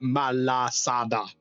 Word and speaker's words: malasada: Mal there you go think like Mal yeah think like Malamar but malasada malasada oh jelly fil donut